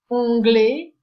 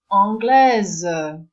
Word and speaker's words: anglais: It's more or less anytime you have a combination A-I, it will be read as A. So, how do we make a feminine form? We add an E and we get anglaise.